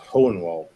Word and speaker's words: Hohenwald: Yeah, I would have to text it to you how it's spelled, because it's not spelled like you would think, but it's pronounced Hohenwald.